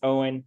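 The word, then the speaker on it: Eoin: I don't have a long name, but it's weird because it's 75% vowels, and that's pronounced Owen. Just forget the E, it all makes sense.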